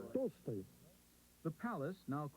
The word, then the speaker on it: Tolstoy: How do you say Tolstoy? Tolstoy.